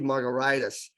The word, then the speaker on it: Margaritis: It's pronounced like a cocktail, but if you look closely, it's spelled like an inflammation. It really should be Margaritis, but you have to take a pill or something.